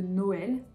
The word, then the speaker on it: Noël: ça dépend des prononciations lorsqu'on sépare deux voyelles on va utiliser un tréma c'est le cas par exemple de Noël au haie ouais ou alors de maïs maïs autre chose qui peut